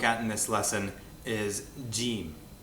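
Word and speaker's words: جيم: in this lesson is gim Ah that's how it's pronounced in Standard Arabic in Egyptian it's pronounced G and the name of the letter indicates exactly how it's pronounced differently in Egyptian gim is pronounced as a g a g very rarely if ever as a du only in Old borrowings from words in Standard Arabic or quranic Arabic it's pronounced G back here like great or given first word we'll look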